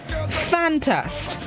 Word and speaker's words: fantast: right this morning's word of the day is fantast fan test it's spelled f-a-n-t-a-s-t fantast it's a known which means